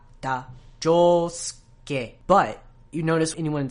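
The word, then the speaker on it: 仗助: shi in Higashikata, and they don't really pronounce the in Josuke. These are whispered vowels, and it tends to happen a lot to shi and tsu and tsu.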